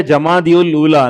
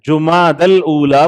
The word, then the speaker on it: جماد الاولیٰ: جب ہم ذکر کرتے اس کا تلفظ بھی صحیح نہیں ہے، لوگ بولتے جمادی الاولیٰ، نہیں ہے جماد الاولیٰ بولنا چاہیے، جمادی الاولیٰ وہ صحیح